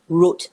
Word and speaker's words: route: the best in whatever route that you take or in malaysia something american pronunciation what route you take but i use root nice what's with the